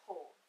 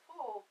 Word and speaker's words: PUL: I went and got some pull. If you've watched any of my other videos, I use pull a lot with cloth diaper items and reusable items and stuff like that. Pull is spelled P-U-L.